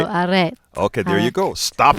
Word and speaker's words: arrête: Well, Because you know how the French roll their R's differently? Yeah. It's like very throaty. Right. So, arrête.